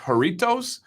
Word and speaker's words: Jarritos: And yes, I tried, I think it's pronounced Jarritos for the first time.